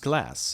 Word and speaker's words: glass: which is spelled like glass in English, but glass Huh. indicates that we should have a long consonant with double S Interesting. and a short vowel.